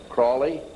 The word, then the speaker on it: Crowley: learned about with Alistair Crawley he likes to be have his name pronounced Crowley to rhyme with holy and the sadness today